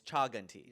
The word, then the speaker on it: Chaganty: I need you both to know that you're pronouncing our last name wrong, but you're both pronouncing it wrong in different ways. You say Aneesh Chaganty. Yeah. He says Anoop Chaganty. Chaganty. It's Chaganty. It's Chaganty, yeah.